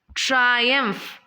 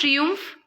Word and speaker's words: triumph: ട്രയംഫ്. ഇറ്റ്സ് നോട്ട് ട്രിയൂംഫ്, ഇറ്റ് ഈസ് ട്രയംഫ്.